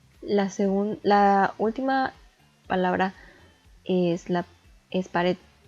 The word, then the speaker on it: pared: La última palabra es pared, la cual contiene 2 sílabas, y podemos observar que la última sílaba es la que tiene mayor entonación, pared.